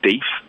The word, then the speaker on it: deaf: So up north, we pronounce deaf as deef.